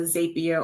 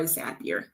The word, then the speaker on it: Zapier: overall and this is something like a zapia or zapier pronounce it how you want you're going to need